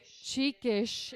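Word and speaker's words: Çıkış: Neumann, for giving us Çikiş is how you pronounce the Turkish. Those Sadies on the C and the, is that an S? On the S, make it a sh sound.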